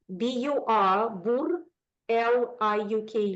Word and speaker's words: Burliuk: So David Burliuk, B-U-R, L-I-U-K, Luke, Burliuk, David Burliuk.